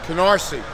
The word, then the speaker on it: Canarsie: How do you say the name of the town that's on there? Canarsie. Is that the Brooklyn pronunciation? Yeah, that's it.